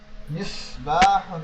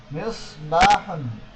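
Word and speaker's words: مصباح: মিসবাহুন, একটি বাতি। মিসবাহুন, একটি বাতি। সাদের উচ্চারণটা একটু মোটা করার চেষ্টা করবো। মিসবাহুন, একটি বাতি।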